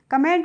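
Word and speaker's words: comb: ठीक है B silent अब देखिए यहां पर फ्रेंड्स सीओ एम बी है तो यहां पर बी का हम प्रोनाउंस एशन नहीं करेंगे ठीक है तो इसको हम क्या पढ़ेंगे कोम पढ़ेंगे क्या पढ़ेंगे कोम पढ़ेंगे और इसको हम कोम नहीं पढ़ेंगे और कोम की हिंदी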